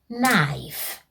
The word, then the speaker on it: knife: It begins with the letter K, which makes the sound K, but we do not say knife, because the letter K is silent, so we simply say knife.